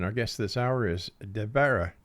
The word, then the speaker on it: Devara: And Exo Nation, our guest this hour is Devara. Did I say it right? Devara? No, Devara. Devara. Think of Deborah.